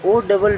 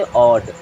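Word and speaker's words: odd: चलिए आगे बढ़ते हैं जैसे ओ डबल डी है तो इसे ओड नहीं पढ़ेंगे क्या पढ़ते ऑड क्या पढ़ते हैं ड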